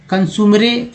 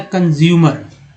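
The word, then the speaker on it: consumer: तो मैं बताता हूँ भाई कि ओ जो है यहाँ पर ओ के रूप में उच्चारण हुआ है, ठीक है। यू का उच्चारण EU के रूप में हुआ है। उसके बाद ई का उच्चारण दोस्तों आ के रूप में हुआ है। तो इस तरह से वर्ड बन गया है कंज्यूमर।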